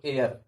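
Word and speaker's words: heir: মনে করেন যে যদি যদি ইয়া থাকে, আই, এটা কি, এটা মূলত এটা উচ্চারণটা কি, এইচ এর উচ্চারণ হবে না, এটা হলো এয়ার, এয়ার।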